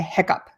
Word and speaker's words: hiccup: Up, and we say hiccup, hiccup, okay?